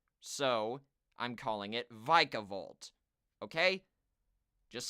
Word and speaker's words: Vikavolt: and say it's pronounced vicavolt I'm just going off of what the anime says they pronounce it with a long I there so I'm calling it vikavolt okay just saying that